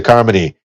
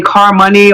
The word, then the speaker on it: Carmoney: at your facebook page it has a pronunciation key it says harmony like harmony yes i had to do that because people they'll call me car money or car money and it's like no harmony let it flow car money sounds good